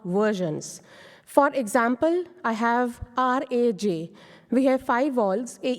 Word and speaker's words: Raj: pronounce that Raj or rage but as I told earlier that in a we can say ah we have to give a stretched out version so the correct pronunciation is Raj if you can see